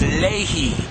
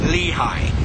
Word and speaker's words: Lehi: a native to Arabia told us how to pronounce Lehi l i h y he says Lehi is Lei L eeh he e e Lei not the way we say Lehi and Leon Li i y i a n